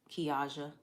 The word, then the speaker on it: Kiaja: The A is pronounced like awesome. So Kiaja.